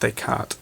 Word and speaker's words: Descartes: quantity and relation sorry it's pronounced Descartes the S is silent some French stuff the difference between two